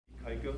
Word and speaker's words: Ikaika: Ikaika, Alama-Francis. Everybody calls me Ike, because it's hard for people to pronounce my Hawaiian name.